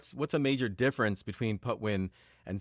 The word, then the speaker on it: Patwin: the native pronunciation there, that has an unaspirated P. So instead of saying Patwin or Patwin, you kind of say it with a muted P, like the Spanish P, Patwin.